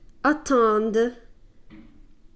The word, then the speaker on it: attendent: Notice the emphasis on the D. Elles attendent. Okay, so you notice that even though it's spelled D-E-N-T, you don't quite say like dent. You don't pronounce it like that. You just put a really good emphasis on the d sound.